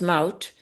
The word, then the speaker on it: Maud: And to me, my first name in Dutch, it's pronounced Mout, but it's an unusual name.